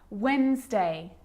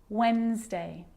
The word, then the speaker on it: Wednesday: letter D yep it can be silent to Wednesday handsome sandwich so I'm not pronouncing the D in Sandwich I'm just pronouncing the consonant end sound before it try it with me one more time Wednesday handsome sandwich and a D can be very